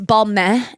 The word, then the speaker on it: Balmain: Yeah, it was like this, it's balmain, and I've never worn balmain. I think you're supposed to say it like that, Balmain.